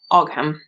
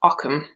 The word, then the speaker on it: Ogham: it Occam it's pretty it's spelled o g h a m so you'd think ogam but no it's Occam so that's that little